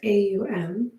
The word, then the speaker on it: om: breath here we'll take three ohms spelled om pronounced aum and as you breathe